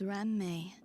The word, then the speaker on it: Ram: see my name is Ram when saying my my name please don't run the syllables together uh pastry tasting as